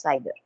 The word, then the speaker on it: CIDR: a classification which is known as cider or cidr or classless inter domain routing okay it is pronounced as cider okay so what we